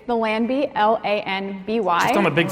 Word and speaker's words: Lanby: Mostly people call it the Lanby, like a lamb.